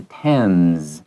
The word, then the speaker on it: Thames: 个 AME 的话，注意它有点像是 1、 2、 3、 4、 5 数字的 10，但是尾巴是用 M，所以是 Thames。好，这个地方要特别小心它的母音还有 H 不发音的部分。